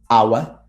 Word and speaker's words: hour: There are only 4 words in which the H is silent. And obviously the words that are either compound or that come from these words. And they are our, honor, honest, air.